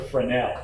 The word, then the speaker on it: Fresnel: It's called like Fresnel or something. I can't Totally remember. forgot. I'm just kidding. Oh. It's a Fresnel. S Fresnel. is silent.